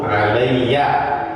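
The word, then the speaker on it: عليّ: Aktsaruhum alayya. Ini bacanya alayya. Kalau ala itu nggak ada titiknya. Kalau ala di atas itu nggak ada titik ya-nya. Tapi kalau ada titiknya bacanya alayya. Ya.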